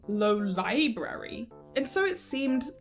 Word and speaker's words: Lolibrary: And here, my friends, is why it is lolibrary and not lolibrary.